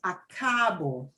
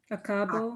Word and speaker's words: acabo: And when we pronounce that word, it's acabo. Acabo. Acabo. Acabo de Yeah. practicar mi lección de español. Yeah, not acabo.